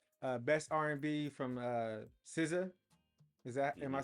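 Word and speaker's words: SZA: Awards here so uh best R&B from uh siza is that am I saying it right sciss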